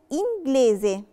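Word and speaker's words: inglese: يعني لو عندي جي ال ما بين حرف ساكن وحرف متحرك او في بداية الكلمة، ساعتها بنطق حرف الجي. نشوف مثال عشان نفهم اكتر. كلمة انجليزي، انجليزي يعني انجليزي انجلش.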